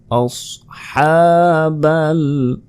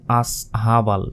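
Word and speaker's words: أَصْحَابَ: গুণ না মাসালান মাসাল আসহাবা অনেকে বলে আসহাবল এটা কিন্তু ভুল আসহাবাহ প্রিয় দর্শক শেষে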